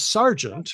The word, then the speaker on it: sergeant: And also there's sergeant, which is said sergeant, but which is spelled sergeant.